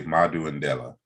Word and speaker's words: Madu Ndela: I'm trying to pronounce it right. It's Madu Ndela, right? Yeah, you could just say Madu Ndela.